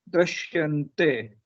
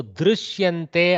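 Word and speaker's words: दृश्यन्ते: Somewhere between you, actual pronunciation is somewhere between ru and ri.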